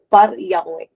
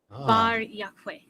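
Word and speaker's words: Bar Iokwe: So we don't pronounce our B's, we pronounce it with a P. And even though it's spelled with an O, it's still pronounced with an A. So it's just like Yahweh, hello. So it's Bar Yahweh.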